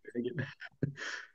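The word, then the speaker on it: Rüegg: Kim Kazu, effectivement, qui pour la deuxième année consécutive a piqué la place de chouchoute de l'équipe à Noémie Rueg, qu'on prononce Rueg.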